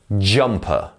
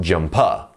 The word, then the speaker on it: jumper: the dot here so the first syllable here is the stressed syllable jumper not jumper you see so jumper